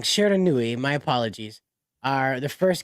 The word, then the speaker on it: Shiranui: Um, Street Fighter 6 is because both Terry Bogard and I always get her name wrong. Mai Shara. Sure, I always get Nui. it. I always get it wrong. Shiranui, my apologies, are the first guest characters in Street Fighter.